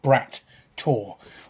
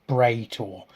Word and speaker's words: Brat Tor: So we went to something called Brat Tor, or as it's I think it's pronounced Bray Tor, but it's spelt Brat, Brat.